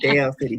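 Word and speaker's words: Del City: See, you already saying it wrong. Dale City. D-E-L.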